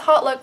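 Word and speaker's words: HauteLook: It's Hotlook because your look's hot. So they also sell them at Nordstrom Rack, where I first bought some, but then I saw them on sale on Hotlook or Hotlook or whatever.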